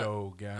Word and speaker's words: ErDogan: Well, ErDogan has 3 syllables, so Yeah, ErDogan.